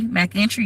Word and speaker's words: McIntyre: you say my name for those of you who like macintosh mac and entry mac entry note my name is mcintyre m-c-i-n-t-y-r-e-m that is how you pronounce it hello everyone but they